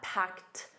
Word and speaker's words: packed: And notice that packed a soft t at the end. Packed.